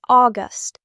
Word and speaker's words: August: It is August like the word gust of wind.